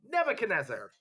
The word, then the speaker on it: Nebuchadnezzar: say what um nebuchadnezzar if it helps you like pronounce it nebu chad nezer except you don't say it like that that would help if you were like writing it to spell it nebuchadnezzar so he is the